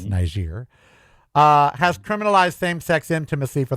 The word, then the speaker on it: Niger: We can very briefly mention Niger, sure, as it is pronounced, and not Niger, it's Niger, has criminalized same-sex intimacy for the first time in its history.